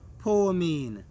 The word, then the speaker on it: poimen: However, it is translated, it comes from a Greek word that is pronounced poimen.